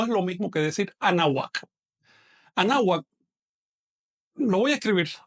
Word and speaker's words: Anáhuac: Anáhuac se pronuncia así. Anáhuac. Pegando muy levemente o casi pegando los dientes superiores al labio inferior. No se pronuncia anáhuac, no es así. Esto es una consonante, la consonante W, que en náhuatl tiene una pronunciación un poquito cerrada.